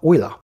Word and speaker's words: Euler: person they're named after the swiss mathematician leonhard oiler and because his name is pronounced euler you pronounce these rotations in the same way